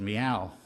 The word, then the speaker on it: MEOI: and Innovation, which had the acronym MEOI, the regrettable pronunciation of which was meow, which I had to live with for a couple of years when that was my job.